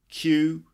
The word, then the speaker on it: queue: Q is Q and the word Q is pronounced the same way so why do we have Yui Yui at the end I don't know but anyway it's pronounced Q for example sorry are you